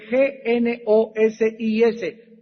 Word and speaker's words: gnosis: es la palabra que del griego nosis con g g n o s i s gnosis y en la Biblia